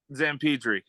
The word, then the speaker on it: Zamperdri: Zamperdri, but close enough.